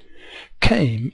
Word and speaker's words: came: is c a came but of course the E is silent and bread and butter